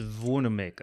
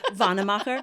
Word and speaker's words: Wannemacher: So It's pronounced Wannemacher. I do. Wannemacher.